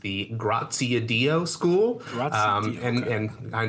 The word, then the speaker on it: Graziadio: It's pronounced the Graziadio School.